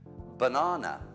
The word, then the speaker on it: banana: used it's extremely frequent it's in most sentences banana two bana uh banana twice when the r